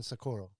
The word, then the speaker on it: Socorro: okay okay or so oh look at you look at you you have to say it like that there you get shot i saw two people go down for saying it the wrong way so i was really